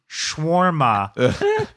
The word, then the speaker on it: shawarma: I'm basically going to Native Arab speakers in the last couple weeks have been like it's pronounced shwarma as my own little